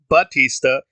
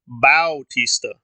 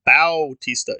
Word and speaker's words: Bautista: It's not Dave Bautista, it's Dave Bautista. In fact, I double checked, and in one of my photos, that is his name. It is Bautista.